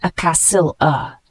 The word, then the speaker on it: axilla: The word axilla, spelled A-X-I-L-L-A, it's a noun, pronounced acassil-a.